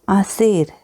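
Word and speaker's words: hacer: Next verb है आसेर। आसेर, H silent है।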